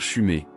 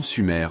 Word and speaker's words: Sumer: Mis à part la mauvaise prononciation du nom, on aurait dû dire Chumé. Et non Sumer au père avait raison.